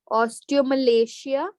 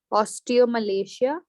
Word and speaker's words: osteomalacia: or oste Mia ostale osteomalacia this is how you pronounce it okay osteomalacia and osteoporosis I might